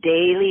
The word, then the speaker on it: Daley: So it's Daley with a David.